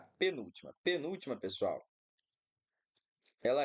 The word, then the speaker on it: penúltima: Letra A, penúltima. Penúltima, pessoal, ela é, sem sombra de dúvidas, uma proparoxítona, né? Penúltima. Beleza. A nossa sílaba tônica aqui é a antepenúltima, por isso ela é uma proparoxítona.